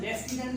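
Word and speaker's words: lieutenant: For example हम लेफ्टिनेंट का example लेते हैं, इसमें आर का साउंड तो कहीं है ही नहीं।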